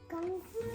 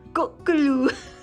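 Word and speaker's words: ਗੋਂਗਲੂ: Gonglu. No, you have to say gonglu. Gonglu. Look here. Look here and say gonglu. Gonglu. Goglu. How do you say it? Gonglu. No, not goglu. It's Gonglu. gonglu.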